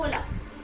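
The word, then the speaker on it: hola: सा वर्ड पहला वर्ड जैसे हम यहां प बोलते हैं ओला तो हम अब यहां प लगा तो एच है पर हम स्टार्ट कहां से कर रहे हैं उसको ओ से क्योंकि हमारा जो एच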